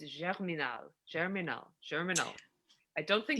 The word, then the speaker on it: Germinal: think is pronounced, it's Germinal. I don't think it's Germinal. I always said it Germinal because I'm an American.